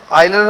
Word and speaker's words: Euler: हाँ, आयलर ने। इसी को आयलर प्रमेय कहते हैं। ठीक है, कुछ यूलर भी बोलते हैं। एक्चुअली EULER स्पेलिंग जो होती है वो EULER होती है।